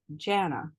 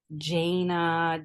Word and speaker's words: Jana: I grew up hearing my name Janna how you said it first but in countries that I've traveled because I've been to 28 countries where they use a soft J when they try to say my name with the hard J it comes out jaina Janna like all kinds of other things so I realized that if I just say it with the soft J they can say